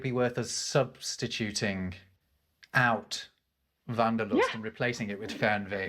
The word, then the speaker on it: Wanderlust: English and that's uh people in English might pronounce it wonderlust but but vanderlust right this I have heard this word Wanderlust